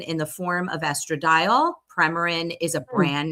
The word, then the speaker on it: Premarin: Yes, it's pronounced Premarin.